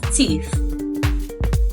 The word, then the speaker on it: teeth: Not teeth, but teeth.